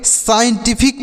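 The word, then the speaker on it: scientific: एस से श पढ़ेंगे उसके बाद यहां पर जो सी है ए साइलेंट है आई से आई पढ़ेंगे और ई एन से आधा न और स देखिए ई एन से आधा न उसके बाद है टी तो टी से ट लिखेंगे आई से बड़ी की मात्रा एफ से फ आई से छ टी की मात्रा भी होता है और सी से क तो इसे क्या पढ़ेंगे साइंटिफिक पढ़ेंगे इसे क्या पढ़ा जाएगा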